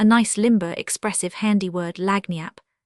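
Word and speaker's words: lagniappe: limber, expressive, handy word, lagnap. They pronounce it Lanniap. It is Spanish, so they said.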